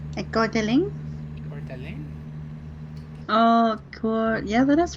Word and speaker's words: Coeur d'Alene: I'm going to Coeur d'Alene. I don't think I'm pronouncing that right. A Godeling? Coeur d'Alene.